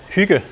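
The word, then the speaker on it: hygge: who asked who asked that question and yeah Hyuga which is how you pronounce it and in Danish yeah to me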